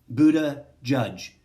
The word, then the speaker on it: Buttigieg: And then Pete Buttigieg, he says Buddha Judge is the closest way to pronounce, like the word Buddha, like the person, and then judge, like the officiator of courts, is the simplest way to actually pronounce his name correctly.